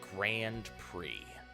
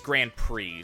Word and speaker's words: Grand Prix: here uh usually it's grand prix so it no the x is not a it's a French word for them quickly so the X is not pronounced as this goes back